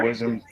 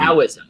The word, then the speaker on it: Taoism: Taoism. I thought you started that word with a D. It's actually pronounced with the D.